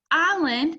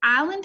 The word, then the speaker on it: island: how many syllables does island have it also has two island can be a tricky word because that s is silent right but it's islands